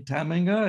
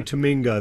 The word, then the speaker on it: Tamminga: it is really correct it's a dutch name and the emphasis on the first syllable as you're doing is the right way to say it well i'm going to